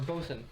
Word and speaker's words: boatswain: Boatswain, or Bosun. Bosun, yes. Bosun I Nala. just want to say Bosun because that's how it's spelled.